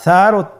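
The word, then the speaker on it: ث: মাখরাজ হল উচ্চারণ স্থান জিহ্বার আগা সামনের উপরের দুই দাঁতের আগার সঙ্গে লাগিয়ে উচ্চারিত হয়।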